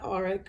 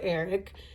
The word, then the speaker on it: Arik: It could be Eric, but that's my ex-husband's name, so that's even weird. So he is not Arik or Eric.